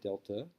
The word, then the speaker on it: delta: It's a Greek letter, delta. That's how you pronounce it.